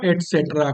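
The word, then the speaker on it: et cetera: ETC इसको बोलते हैं, जबकि इसको पूरा पढ़ेंगे एटसेट्रा। तो आप लोग अगली क्लासेस में जाओगे तो इसको आप पढ़ोगे एटसेट्रा। Okay, ETC, ETC means एटसेट्रा।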